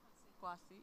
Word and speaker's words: Kwasny: She it's pronounced correctly? Kwasny? Kwasny, yeah.